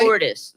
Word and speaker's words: Cordes: Cordes, am I saying that right? Cordis, the white version.